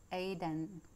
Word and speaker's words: Oiden: The word is Oiden and pronounced Aiden, and signifies love, tenderness, generosity.